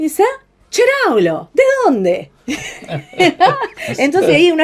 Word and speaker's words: Ceraolo: se pronuncia Cheraolo, se escribe Ceraolo.